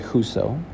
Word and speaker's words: whoso: Now, when you pronounce the word whoso, you'll notice when you put your hand under your chin, whoso actually has 2 syllables in it. But the stressed syllable, the one that sounds a little bit more drawn out or a little louder, is actually the first one. So the first syllable, who, is a little bit louder than so.